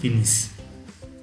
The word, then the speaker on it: finissent: And then come ils, we don't pronounce the ending. Last e n t, we omit that. Okay? So, it becomes ils finissent.